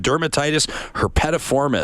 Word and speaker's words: dermatitis herpetiformis: I'm going to mispronounce this, I guarantee it, but Jennifer says I have dermatitis herpetiformis. Awesome, you pronounced it right.